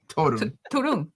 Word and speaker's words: Torunn: Your first interview, I just want to say, Torunn. I'm sorry. How do you pronounce her name? Melanie? I can't. Torunn.